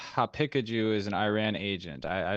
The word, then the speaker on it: Haqiqatjou: It's Haqiqatjou. It's very hard to pronounce because of the qaf letter. It's like a kind of a guttural. Yeah, guttural. So Haqiqatjou. So if you pronounce it Persian, it's like Haqiqat, and Haqiqatjou. So that might be easier.